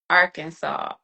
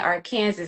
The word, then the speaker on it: Arkansas: like I mispronounced Arkansas on a um a criminal procedure being called and I kept saying or Kansas and I didn't realize it.